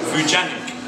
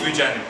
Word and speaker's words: Vujanic: and for living so it's vujanic so just say vujanic and in Nigerian how would it be how